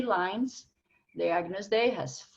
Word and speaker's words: Agnus Dei: First of all, keep those names in mind: Kyrie, Gloria, Credo, Sanctus, and Agnus Dei. Those are the words, that's the pronunciation, and it's all in Latin text.